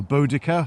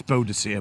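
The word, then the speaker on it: Boudica: now we're by uh bodacia or bodica however you want to pronounce it it's bodacia by the way it is yeah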